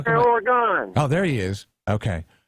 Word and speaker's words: Oregon: So let's pronounce Oregon properly. Oregon.